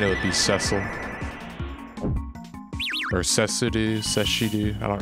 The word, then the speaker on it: Cecil: Like, I'm pretty sure Cecil is the correct way to say it.